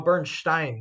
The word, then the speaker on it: Bernstein: Oh, Bernstein. That's how you pronounce it. Bernstein, like German Stein.